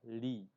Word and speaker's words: lit: L គឺសរសេរជាមួយនឹងអក្សរ L ដូចនៅក្នុងពាក្យថា lit le T on ne prononce pas សំឡេង T នេះយើងអត់បញ្ចេញសំឡេងទេយើងអានថា lit